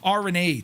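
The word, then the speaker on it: Aurigny: RNE.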